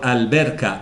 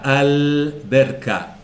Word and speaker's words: alberca: se pronuncia en cambio Si es una letra lunar como la B por ejemplo la l se pronuncia digo alberca alberca alberca curiosamente en la Península